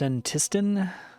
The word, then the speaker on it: Senntisten: All right, I guess it's pronounced centiston.